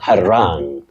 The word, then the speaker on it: harangue: It's H-A-R-A-N-G-U-E. That is a very tricky word, which is perhaps of Germanic origin, and you say to harangue. To harangue. To harangue you, to harangue, no. To harangue, rang.